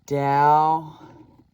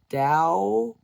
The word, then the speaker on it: Tao: Then I stumbled upon this amazing Tao Druidry. Spelled with a T, but it's pronounced D.